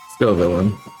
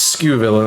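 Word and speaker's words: Scovillain: I've heard a lot of people pronounce it skew, and I'm like, no. It's Sco. It's Sco. Sco villain. If it was skew villain, it would have another O or a U after it.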